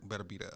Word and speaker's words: Beterbiev: Beterbiev.